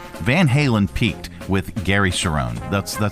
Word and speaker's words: Cherone: How do you pronounce his name? Gary Cherone? Gary Cherone.